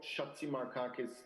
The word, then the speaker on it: Chatzimarkakis: the more important topic it's a great name yargo shatsi markakis but i grew up in germany so it's a german pronunciation of it thanks very much thank